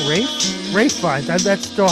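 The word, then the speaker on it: Ralph Fiennes: Coleman Domingo for Sing Sing, Ralph Fine. Is it just Ralph? Okay. It's not Rafe? Rafe Fiennes. That's still how I pronounce it.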